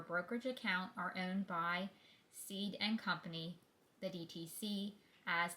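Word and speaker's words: Cede: Everyone in the brokerage business keeps pronouncing this name as CD and company but it's spelled C D and pronounced seed.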